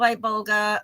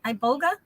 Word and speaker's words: iboga: was called to do I vulga or I am I pronouncing that right iboga I Boga yeah okay so I was called